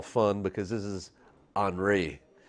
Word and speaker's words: Henri: this one i call fun because this is anri it's spelt like henry kind of but it's pronounced